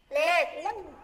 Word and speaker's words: late: Late. À, các em phải đọc là late. Late. Bật chữ tờ ra nha, late.